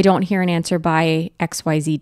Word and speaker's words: Aix: yeah let's get into X because this is a special place guide so first thing if you look up X it's spelled a iix it's pronounced like the letter X it was founded by